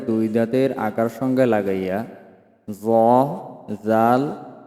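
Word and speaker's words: ذ: আগা সামনের উপরের দুই দাতের আকার সঙ্গে লাগাইয়া জাল সা অর্থাৎ জিহ্বার আগা সামনের উপরের যে দুই দাঁত আছে দুই দাঁতের আগার সঙ্গে লাগাইয়া জ জাল সা উচ্চারণ করিতে হবে।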